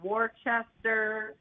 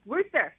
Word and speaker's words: Worcester: I was calling it Worcester. I was like, you're saying it wrong. It's Worcester.